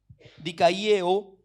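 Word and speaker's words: δικαιόω: La palabra justificado, bueno, en el original griego, aquí en Romanos 5:1, bueno, es una palabra que se pronuncia más o menos dikaieo, que significa declarar inocente.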